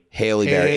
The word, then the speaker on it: Halle Berry: Haley Berry, exactly. She pronounced it Haley Berry, but then there's Halle Berry who spells it the exact same way.